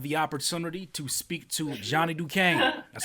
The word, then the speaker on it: Johnny Dukane: today i have the opportunity to speak to johnny duquesne that's how i pronounce it correct yes sir johnny john duquesne